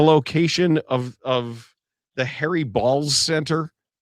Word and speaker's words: Baals: I pronounce my name Baals."